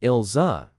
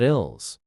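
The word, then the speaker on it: Ilse: He learned how to pronounce her name properly, ilza, not ills.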